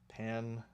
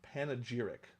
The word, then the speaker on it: panegyric: Panegyric. A public speech or a published text in praise of something or someone. How do you say it? Panegyric.